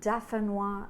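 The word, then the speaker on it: d'Affinois: If it's hard to remember, think Dauphinois sounds like the word diaphanous, the name for like a light, silky piece of material.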